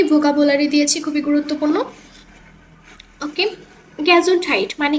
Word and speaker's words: Gesundheit: ওকে, গ্যাজুন্ডহাইট মানে কি? স্বাস্থ্য। আমার সাথে সাথে প্রোনাউন্সিয়েশনগুলো বলার চেষ্টা করবেন।